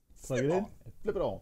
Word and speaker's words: Flipon: Flip it on. That's how you say it.